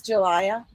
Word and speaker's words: Jalia: help me again pronounce that name. It is Jalia. Jalia. Jalia. Jalia. Yes, Jalia.